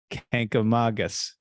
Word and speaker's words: Kancamagus: And here's how they say you should pronounce Kancamagus. Kancamagus, just like I said it the first time.